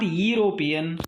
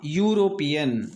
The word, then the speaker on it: European: It is not European. It is European. So again the semi-vowel sound, sound. Okay. It looks like vowel letter. The word starts with vowel letter, but the pronunciation starts with consonant sound, so that we can